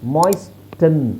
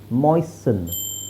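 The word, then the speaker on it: moisten: ಅಲ್ಲ ಸಾಫನ್ ಸಾಫನಿಂಗ್ ನೆಕ್ಸ್ಟ್ ಮಾಯಸಟನ್ ಅಲ್ಲ ಮಾಯಸನ್ ಮಾಯಸನ್ ಆಮೇಲೆ ಇಲ್ಲಿ ನೋಡಿ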